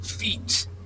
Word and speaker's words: feat: a hard one okay even though it sounds like you're talking about your foot okay or your feet down below on the bottom um it has an a there okay so when we say